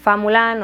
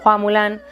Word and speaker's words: Hua Mulan: Está basada en el poema antiguo chino llamado la balada de Fa Mulan o Hua Mulan, depende de la pronunciación y yo no me